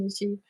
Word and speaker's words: Michi: panel last Hi Minnie mishy that's it yeah oh yes and so I I hear sometimes they're like how do you pronounce it's mishy mishy Mishi Mishi it's short for Misha so mishaa is my